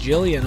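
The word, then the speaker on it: Gillian: I guess it's official it's actually pronounced Jillian otherwise they wouldn't get mixed they wouldn't get their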